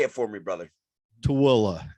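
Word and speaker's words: Tooele: or two ellie say it for me brother to willa it's uh it used to be spelled like it's sound but um it got changed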